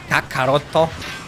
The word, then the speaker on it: Kakarot: in Japanese I mean Goku's real name karat or maybe you prefer if I say with the Japanese pronunciation how they say it kakaroto okay so uh where